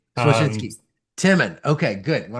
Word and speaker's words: Słocyński: And last name is super close. It's Słocyński. Słocyński.